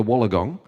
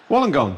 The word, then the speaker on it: Wollongong: In Australia, at their home near Wollongong. And she Wollongong? Is that how it's pronounced?